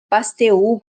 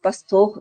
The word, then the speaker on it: Pasteur: pouquinho sobre isso então Pasteur Pasteur pastor depende da de como a gente pronuncia o francês ou abrasileirado né bom então ele ele